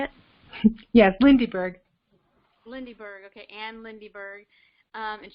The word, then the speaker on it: Lindyberg: Yes, Lindyberg.